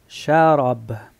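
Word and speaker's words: شراب: Y la ro pronunciar la boca llena. Ro. Ra. Chara. Chara. Y vas a terminar con una B.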